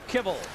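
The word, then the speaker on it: Kivell: Uh, it's K I V E L L. But we asked him and he said, "No, you pronounce it kibble." And Nick and I both turned to each other and said, "Like kibbles and bits."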